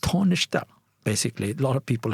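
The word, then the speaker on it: Taoiseach: the tishak the tishe tisha uh and it's pronounced tishta basically a lot of people have mispronounced him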